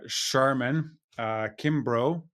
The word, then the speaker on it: Sharmen Kimbrough: I am here with Sharmen Kimbrough.